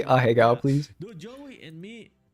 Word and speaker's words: ahegao: Looking at how to pronounce this Japanese anime and Japanese manga term ahegao.